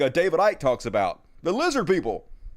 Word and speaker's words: Icke: David Icke, pronounce it Ick.